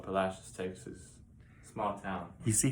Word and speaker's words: Palacios: town about two hours up the coast called palacios texas small town you see how he pronounces it he pronounces it correctly that's right a lot of people say palacios but that's how the locals say it how